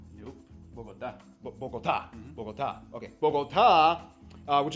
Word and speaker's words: Bogotá: Diego, did I pronounce that right? Bogota? Nope. Bogotá.